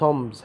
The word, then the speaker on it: tombs: reading tombs of egypt tombs هذه الكلمه لا تنطق البي tombs البي سايلنت هنا يا شباب tombs يعني